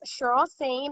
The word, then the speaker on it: Cheryl Sain: an agent and we have with us miss cheryl sane am i pronouncing your name correctly that's correct cheryl said